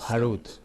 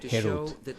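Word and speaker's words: חרות: shemot rva 41 tallado harut sobre las piedras no pronuncies detallado harud Pero más bien libertad herut Mostrar que ellos son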